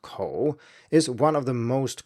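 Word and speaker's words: 口: However, to learn to read and write Chinese you need thousands of characters and this component, which actually means mouth and is pronounced kǒu, is one of the most common building blocks.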